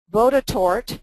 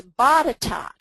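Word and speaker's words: Botetourt: best Barbara Vines little has corrected my my pronunciation for I called it bod tort because it looked like court but Barbara corrected me she's one of the Premier Virginia researchers and she says no Barbara it's batat batat and down in North Carolina jool and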